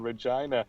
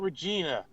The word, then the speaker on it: Regina: director who filmed in Regina, and he was complaining. He's like, I get up there, and I kept pronouncing it Regina. And they're like, no, it's Regina, eh?